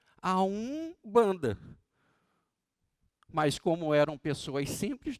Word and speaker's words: Umbanda: Usar corretamente, na vibração correta, como Om, tem que ter técnica, tem que ter aprendizado, né, para ser pronunciado. Os nossos irmãos umbandistas, né, é Om-banda, a Umbanda.